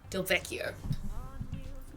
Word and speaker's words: Del Vecchio: No, we found Jane Del Vecchio. I believe a double C in it seems like an Italian name, so I'd say double C is a hard C sound in Italian, I think.